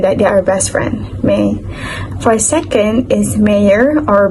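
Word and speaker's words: mhie: is the word me it spelled out m h i e but it pronounced as m a e so may is a word come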